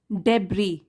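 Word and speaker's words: debris: Next है डेब्री, S silent होता है इसमें, डेब्री नाउन है ये, इसको बोलते हैं रबिश या गार्बेज, अनावश्यक चीज़ों का ढेर।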